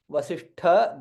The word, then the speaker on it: Vasishtha: Vasishtha, there, Shakara is there. Sha and Tha. Tha is Mahaprana. Hence it is green in color.